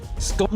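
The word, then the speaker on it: scone: Scorn is the correct old English pronunciation.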